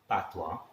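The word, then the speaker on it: patois: for the initiation then i use the word pathwa so i by mistake spell it wrongly p a t i o it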